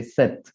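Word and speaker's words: sept: the s set so i don't pronounce the p i say set i say wheat without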